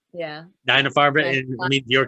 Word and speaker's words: Deine Farbe: But before I let you go, could you go ahead and pronounce this film's name in German, because I can't. It's Deine Farbe. Yeah. Deine Farbe, Deine it Farbe.